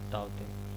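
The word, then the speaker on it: Tauktae: तो देखिए नाम के साथ साथ इनको प्रोनाउंसिएशन भी देना पड़ता है। तो जैसे देखिए तौकते इसने नाम दिया था यहाँ पे, तो उसने प्रोनाउंसिएशन भी दिया था यहाँ पे तौते।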